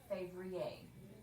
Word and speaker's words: février: Février. Because the ER on the end makes a long A sound.